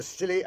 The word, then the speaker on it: Scilly: Year's Eve off the Silly Isles. The Silly Isles? That sounds appropriate, doctor. The name of these particular islands is spelled S C I L L Y.